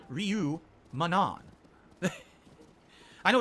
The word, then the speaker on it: Ryu: Jay Kuma says Zangief, Chun-Li, Ryu, Manon.